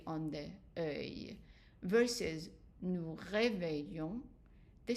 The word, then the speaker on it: réveillons: Now, for we wake someone up, the regular one is nous réveillons. And again, the O-N-S here, but the S is not pronounced.